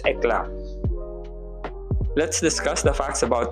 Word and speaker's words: Eclat: The proper pronunciation or the most Filipino way that we can say it is Eclat.